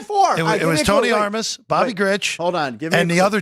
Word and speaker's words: Armas: Jeff Tony armas we'll say the last one like armas yeah there you go